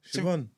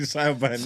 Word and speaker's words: Siobhan: Siobhan. I don't want to tackle how to spell that. Is it like Hella consonants. S? You mean Saiban? I-O-B Saiban. Yeah, Yeah, that's Saiban.